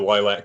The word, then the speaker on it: Lylat: it oh yeah no it's the lilac continuum just like star fox yeah i did i